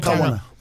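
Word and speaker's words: Kāwana: How do you pronounce it? Kawana.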